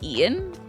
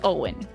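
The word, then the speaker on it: Eoin: I can just pronounce it as Ian, although purists might stare at you. Well, he says his name is Owen. So I'm gonna go with that.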